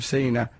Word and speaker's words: Sina: Love from Sina, pronounced like Tina with a C.